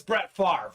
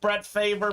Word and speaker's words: Favre: helmets uh you guys i know it's brett favre don't worry i'm not i'm not silly uh his name has been pronounced bret favor by many people including on draft night i believe and